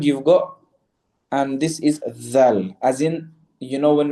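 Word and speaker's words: ظ: And then the dha, a lot of people will pronounce it as za, okay. For example, wallahu la yahdi al-qawm al-zalimin. This is incorrect, okay.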